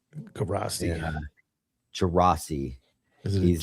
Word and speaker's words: Gerace: I never know. Gerace is how I say his name. Gerace.